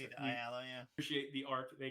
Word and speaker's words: Ayala: Ayala, yeah.